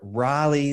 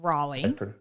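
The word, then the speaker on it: Raleigh: if you're in an area like Durham or Riley that's RI Riley Riley Raley Raley okay I pronounced it right the first time there's a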